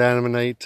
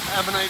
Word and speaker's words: Ammonite: I know it sounds sort of like an enemy, but an Ammonite or like Mennonite.